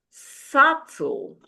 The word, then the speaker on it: subtle: Be also silent in the word subtle.